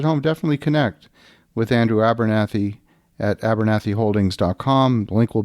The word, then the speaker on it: Abernathey: On Abernathey at the end, it's EY. Don't forget that silent E there.